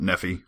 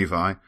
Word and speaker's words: Nephi: And one consistent theme is that it's definitely Nephi, so we've solved that riddle. Not Nephi, like I thought maybe originally. Definitely Nephi.